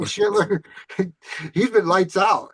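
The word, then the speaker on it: Schlittler: I drafted oh boy, he's a Yankee, but I always pronounce his last name wrong. Slater, Shitler. Slater, Shitler. I think Yeah, it's Cam Shitler.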